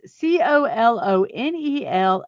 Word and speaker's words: colonel: He says, I never understood while Americans pronounce C O L O N E L as colonel.